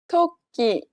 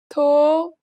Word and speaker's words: 토끼: 토끼, 토끼. Did you notice that there was a small pause between the first and second syllable? It's because you need to hold your breath to make the stressed sound.